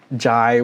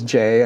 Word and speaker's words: Jai: names and I picked Jai, which I know is Jay. I know a lot of Indian people might be watching this being like, "It's actually J." They're not wrong. I I personally don't care how you say it.